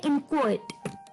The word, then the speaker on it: inchoate: तो ये जो पांचवा वर्ड होने वाला है शाम का दोस्तों, वो काफी अटपटा, उसकी जो प्रोनाउंसिएशन है वो थोड़ी सी अनोखी है। तो वर्ड है इनक्वेट।